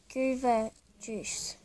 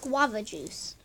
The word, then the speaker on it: Guava Juice: It's actually Guava Juice. Goober Juice. It's pronounced Guava Juice.